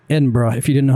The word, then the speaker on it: Edinburgh: And by the way, if you've never seen how Edinburgh is actually spelled, I'd never taken a close look at it. Does not look like it would be pronounced Edinburgh if you didn't know how to say it correctly.